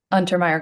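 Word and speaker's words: Untermyer: Untermeyer Gardens.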